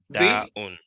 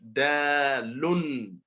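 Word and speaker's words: دال: Da'un. No. Okay. This will be Dalun. Dalun. It Dal, ends with, dal, dal, yeah, dal. Ends with dal, L-U-N. Dalun. Mhm, dalun, mhm.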